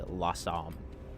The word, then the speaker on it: Losomn: I believe the correct pronunciation is actually Losomn. I always say Losomn, because I don't care. That's how I say it.